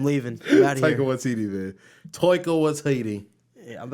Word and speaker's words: Taika Waititi: That's how Chris Hemsworth says it. Really? With his beautiful Australian accent, Taika Waititi.